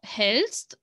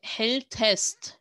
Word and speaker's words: hältst: So hältst sounds so much better. Then you don't have to say hältest. It sounds easy to pronounce, but it's completely wrong.